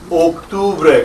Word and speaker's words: octubre: Careful, this is the second most mispronounced month. Oak. Listen, hey, you just fell out of what tree? The oak. That's the way I want you to pronounce that first syllable.